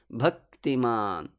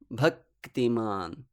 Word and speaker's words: bhaktiman: takes the place to utter the k sound but halts for about one matra bhaktiman bhaktiman and this little pause of one matra together with the short vowel uh also one mantra makes the syllable bha guru remember the vowel